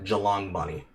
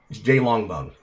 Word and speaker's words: J Longbone: Like, he couldn't even pronounce her fucking channel name properly. He kept calling her Jalong Bunny.